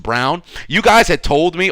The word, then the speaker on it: Braun: X Factor was Christian Brown because it's actually pronounced Brown you guys had told me already it's pronounced